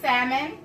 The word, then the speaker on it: salmon: will get on me if I put the L in it so let me let me say it right salmon I'm gonna add